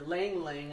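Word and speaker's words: ylang-ylang: There's our tuberose and the Ylang Ylang, or Lang Lang, I guess it's pronounced. It's a silent Y.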